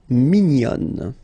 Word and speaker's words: mignonne: And then another example, mignon will become mignonne. Okay, same thing here, nasal mignon, and then when you put the feminine form, mignonne.